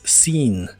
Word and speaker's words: seen: Usaremos el verbo ver, que en el participio es visto, y en inglés es seen. La doble E se pronuncia como una I larga. Seen, seen.